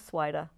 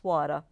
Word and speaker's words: Svajda: Last name is Svajda. Most often mispronounced Svajda.